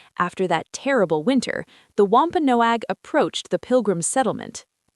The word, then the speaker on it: Wampanoag: Wampa Noag. That is a beautiful name. How do you say it again? Wampa Noag.